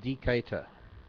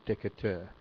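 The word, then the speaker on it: Decatur: this Joey Joey SCH pronounced decator not decur thanks Joey I was trying to pronounce it the French way I guess it's pronounced the American way DEC Deca in Illinois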